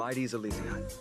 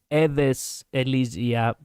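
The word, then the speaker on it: Aedes Elysiae: Well, it is Greek and it's not even correctly pronounced. It's Edes Elysia, but anyway.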